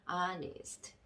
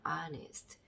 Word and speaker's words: honest: 자, 그래서 발음을 해보면 조합 이렇게 해서 발음을 한번 해보면 honest 이렇게 되겠죠. honest.